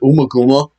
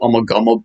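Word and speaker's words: Ummagumma: um or you know most people pronounce it umakuma um that's probably how it's pronounced although i've always pronounced it i'm a gumball but uh this is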